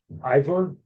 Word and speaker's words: Ivor: So is it Ivor? IVOR? Yep. Is that how you pronounce it?